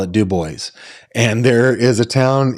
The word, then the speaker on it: DuBois: There's a town in Pennsylvania that is spelled Dubois, and people around here call it Dubois.